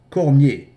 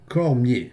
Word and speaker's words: Cormier: To be noted, Cormier is also a French name which should be pronounced Cormier Cormier.